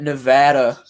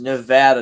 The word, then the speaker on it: Nevada: sims says he says nevada not nevada okay yeah i say i say it with the ad too and one basket for